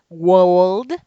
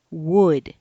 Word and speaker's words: would: o UL d would please don't say will don't say world don't say Walt don't it's wood don't be oh you